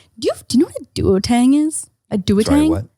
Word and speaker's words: Duo-Tang: Anyway, we call them duotangs in Canada. Okay. Duotang? Anyway, Dua. It's spelled duo, but you say Lipa?